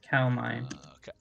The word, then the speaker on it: Kaldheim: I was like, how do you pronounce it? Oh, so Kaldheim. Kaldheim. Kaldheim. Kaldheim? Kaldheim, yes. Kaldheim.